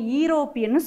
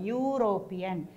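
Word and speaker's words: European: நம்ம சொல்லும்போது ஈரோப்பியன் சொல்லக்கூடாது, எப்படி ப்ரொனவுன்ஸ் பண்ணோம்? யூரோப்பியன். இதுவும் யூ சவுண்டு வர்றதால ஏ என்ற எழுத்து தான் யூஸ் பண்ணதும்.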